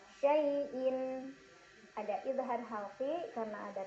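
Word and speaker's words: شَيْءٍ: Ada huruf lin karena ada ya sukun sebelumnya fathah, dibacanya dilunakkan. Syai'in.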